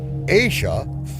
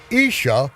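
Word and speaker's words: אשה: the unvoweled original, which changed the pronunciation of the letter Aleph from A, Asha, fire, to E, Isha, woman. That one added dot changed the entire prophecy.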